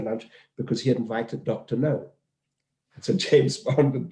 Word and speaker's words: Gno: So he was spelled GNO, but it's pronounced Dr. No.